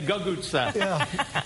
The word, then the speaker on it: cucuzza: gutes this summer I just learned how to pronounce it good good good reading thank you squash we like to say googootz did you say your dad wasn't there for